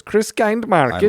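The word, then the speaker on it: Christkindlmarkt: course also have a Christmas kind Market is how it's spelled Christmas Chris Chris kind Market that's what it is Chris kind Market I love that which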